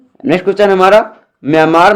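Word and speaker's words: Myanmar: नाम म्यांमार ठीक है वर्मी भाषा में आर का उच्चारण ज्ञात किया जाता है अतः सही उच्चारण म्यांमार ठीक है हमारा विश्व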